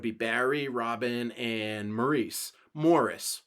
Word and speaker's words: Maurice: barry robin and maurice morris spelled like maurice pronounced morris then andy gibb uh